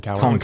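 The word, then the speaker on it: Cowherd: Did you see Did you see uh Funhouse tweeting around that uh uh cow herd clip? Is that how you pronounce it? Colin Coward.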